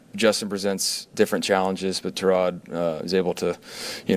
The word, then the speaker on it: Tyrod: Correctly pronounced Terrod, but he doesn't correct people.